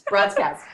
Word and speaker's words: Broadscast: It's Broadscast.